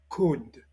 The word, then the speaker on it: could: Deuxième verbe modal, could. Déjà dit dans la leçon 12, nous répétons que le L ne se prononce pas dans could, should, would.